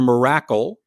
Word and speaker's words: Mirakle: I'm trying to remember the pronunciation. Correct me if I'm wrong. Dr. Miracle. Dr. Miracle.